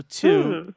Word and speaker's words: two: them really closely so two twwo is a weird one you're right it's got that W what is the W doing there any ideas I we